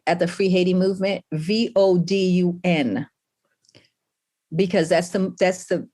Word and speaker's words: vodun: pronunciations are important right so it's vodun it's not voodoo or vodou or any of that um so